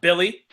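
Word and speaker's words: Willy: the favorites in the East oh sweet dude Willie her on Gomez is playing yes you know name that Willie you know it's pronounced Billy no it's that's strange he said it's it's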